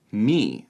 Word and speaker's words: my: the north, which is they pronounced my, me. So it's not my dad is from Wales, it's me dad is from Wales.